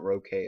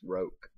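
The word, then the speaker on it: roque: burst into laughter oh it's pronounced rope by the way it's not rokay it's roke omen didn't waste much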